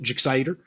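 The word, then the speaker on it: Gixxer: Suzuki GSX 8R, uh, or more accurately pronounced Jixider, and um, you know, bikes like that.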